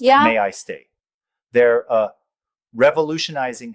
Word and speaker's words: May-I-Stay: There's this platform called May I Stay, pronounced May I stay.